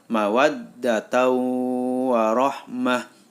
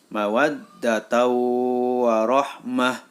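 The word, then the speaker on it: مَوَدَّةً وَرَحْمَةً: dalam kalimat mawadah warohmah Kenapa disebut bacaan Idgham Bighunnah karena ada tanwin atau Fathur Tain bertemu dengan huruf wawu maka suara tanwin masuk ke dalam huruf wawu jadi cara membacanya mawadda tahu warohmah Mawadah tahu warohmah kali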